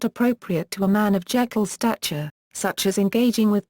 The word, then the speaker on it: Jekyll: Stevenson's pronunciation of Jekyll used a "long e" sound (/iː/), which was the pronunciation used in Stevenson's native Scotland.